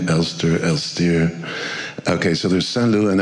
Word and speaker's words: Elstir: I pronounce him Elster sometimes, as if he had an English name, Elstir.